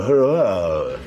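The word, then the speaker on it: Huayra: day what's it called it's called the her it's spelt H you a why are a the this in case you forget all that's the noise you make with your sick in the passenger seat yeah if you two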